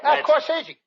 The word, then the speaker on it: corsage: Corsage. That's corsage. Spelled A-G-E is pronounced like odd, as in corsage or garage.